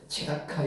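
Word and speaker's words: צדקה: 오늘 이제 그 째로도 발음하기도 하고 체로도 발음합니다. 체다카 이렇게 발음하기도 하고 제다카 이렇게 발음하게 돼.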